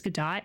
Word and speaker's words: Godot: It's Godot. I was looking up about... So I'm making a visual novel for my first go at being doing game dev stuff. But I want to use Godot, whatever, for a 3D idea when I'm done